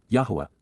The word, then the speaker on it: Yahowah: Yahowah, Yahowah, the proper pronunciation of the name of Eloah, God as directed in